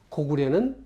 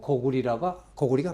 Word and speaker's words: 고구려: 그럼에도 불구하고 저는 그렇지만 고구려는 틀렸고 고구리가 맞다.